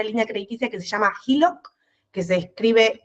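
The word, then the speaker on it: HELOC: acceder a una línea crediticia que se llama hilock que se escribe h e l o alguna otra pregunta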